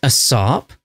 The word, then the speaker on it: ASAP: Best we put our plans in motion, ASAP. It's pronounced a sop, I think you'll find.